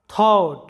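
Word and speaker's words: thought: বাংলা অর্থটি হচ্ছে যুদ্ধ থট লক্ষ্য করো থট এখানে ইউ এর পরে জি এইচ থাকার কারণে জি এইচ এর উচ্চারণ হয়নি কারণ ভাওয়েলের পরে জি এইচ আছে।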